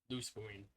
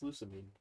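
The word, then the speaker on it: Lusamine: Except for Loose Marine. But it's not even her name. is that not her name? It's Lucamine.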